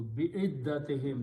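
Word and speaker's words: بعدتهم: So it becomes bi'iddati, and in order to pronounce with a smoothness, we pronounce this dhamma as a kasra again. So bi'iddatihim, that's the word in the Quran.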